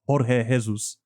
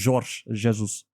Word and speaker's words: Jorge Jesus: you do pronounce the J. It's not Jorge Jesus. It's Jorge Jesus.